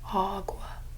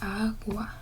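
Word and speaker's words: agua: pronounce this word here they'll pronounce that first a with this a sound awa. Remember that you are not getting that pitch correct. If you pronounce it like that because this what did I teach you? This always produces a a you hear the difference. So this is awa. Same a sound always a awa.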